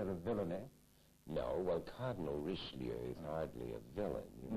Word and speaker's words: Richelieu: either, so he was Mr. Richelieu, which I believe we were told to pronounce Richelieu. Mm-hmm. It's a good American pronunciation.